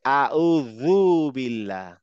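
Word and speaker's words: أعوذ بالله: বলি তারপরে এখানে হচ্ছে আউজুবিল্লাহ বিল্লাহ না জু হয়ে যাচ্ছে দ এর মত উচ্চারণ হবে আউজু আউজুবিল্লাহ আউজুবিল্লাহ হ্যাঁ এই দু বলার সময় জিবটা একটু বের করেন আউজুবিল্লাহ আউদু দু দ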